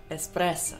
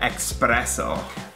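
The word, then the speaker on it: espresso: Ну вот, например, как итальянец учит правильно произносить слово «эспрессо». Most Americans would pronounce that «эспрессо» with an X. Yes. And again, there's no X in there. It's «эспрессо». Помимо американцев, так, кстати, часто говорят «проводницы в поездах».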